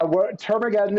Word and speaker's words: Termageddon: Yeah, Termageddon is an auto-updating website policies generator built for agencies and their clients.